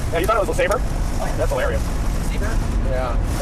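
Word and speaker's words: LeSabre: It's actually pronounced Le Sabre.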